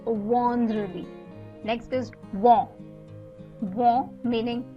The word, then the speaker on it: vendredi: So here the EN is after the V, and hence you pronounce it as vendredi.